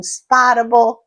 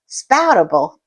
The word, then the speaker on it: Spoutable: I went on Spotable. Spoutable. I don't know why I always mispronounced that.